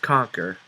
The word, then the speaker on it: Kahnker: The sensei explains that they are needed to help him battle an evil warrior wizard known as Conquer. It's pronounced Conquer, but it's spelled Kahnker.